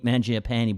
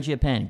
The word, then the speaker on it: Mangiapane: Now, Andrew Mangiapane, is that how you say it? Mangiapane, pretty good. Yep. Tough.